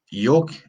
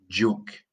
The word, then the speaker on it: joke: There's the funny one with saying yoke. That's a very funny yoke. It's a j sound. J. Joke. Jump.